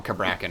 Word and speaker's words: Cabrakan: I'm gonna call him Cabrakan because that's how it's pronounced in game.